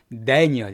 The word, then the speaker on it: Daniel: 한국말로는 다니엘이지만 영어로는 Daniel 이렇게 발음해 줍니다.